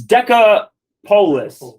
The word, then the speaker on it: Decapolis: this map wasn't it decopolis did I say it wrong what did I say you're saying the Apocalypse oh I'm it's Deca polis 10 cities yeah whatever you were